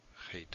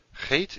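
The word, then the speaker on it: חית: Chet is the ch sound, or something like the ch sound, in Bach, or in Loch. It's that German or Scottish ch sound.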